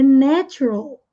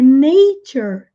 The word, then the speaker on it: nature: Aqui, na primeira, é natural, natural. E aqui é nature, nei. Então, muda. Aqui, na segunda palavra, o A tem o som como no alfabeto. Ei, nature, natural, nature. Pronunciem aí para treinar.